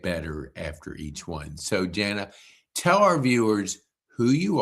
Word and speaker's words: Jana: So, you pronounce J A N A Jana.